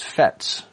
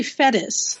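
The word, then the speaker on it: Fettes: imagine one of your other scouting locations was FETs am i pronouncing that correctly that's actually fetis fetish is you know what we would call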